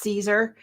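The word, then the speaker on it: Siser: yes um we use Caesar s i s e r it's pronounced Caesar and um they have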